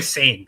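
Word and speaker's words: Sané: It's Leroy Sain, not Leroy. Call him Leroy.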